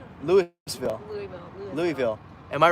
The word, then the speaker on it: Louisville: louisville dude you know they say louisville louisville that's how they pronounce it yeah everyone from from there says louisville really right lewisville louisville am i right